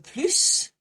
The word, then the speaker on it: plus: The second time we pronounce the S is when we want to ask for more just on its own.